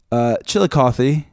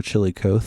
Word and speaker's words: Chillicothe: Okay, Chillicothe, because that's how you pronounce it, or Chillicothe, because that's fun.